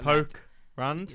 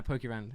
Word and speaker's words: Pokerand: Pokey Rand, as in like poke Rand, R-A-N-D. Oh yeah, poke Rand. No, Pokey Rand. Yeah. But it's spelled like poke without the.